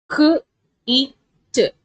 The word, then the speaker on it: kit: up sessions okay so huge the next word K it kit if it is a three letter word you have to pronounce it as C kit if I add